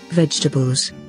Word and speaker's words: vegetables: so i think it's vegetables and they always tell us not to say this like other vowel in the middle of it and here's how it should be pronounced vegetables vegetables vegetables vegetables vegetables